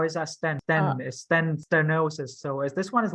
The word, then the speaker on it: stenosis: bit difficult because you have to really say stenosis, not stenosis. Stenosis. Yeah, don't forget the E. Just forget the E. It's stenosis. Okay, So you see that EH, okay, not air. You don't pronounce air. It's okay. So STE. Yep, good.